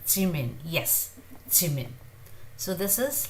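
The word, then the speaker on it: 지민: It is neither j nor j. It is somewhere in between. Ch. Jungkook, as you see, it's slightly, very softly, a little bit of air comes out of it. J. Jungkook, Jimin, J. Jin. So this is Kim Suk Jin, Park Jimin, John Jungkook. So J. This is J. So it's like Jib. It's more towards J but not exactly J.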